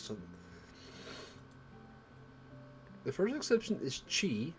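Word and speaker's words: ち: the first exception is chi which starts with c instead of t it adds a soft h sound the second exception is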